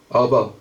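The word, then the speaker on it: אבא: 아바 히브리 발음이에요.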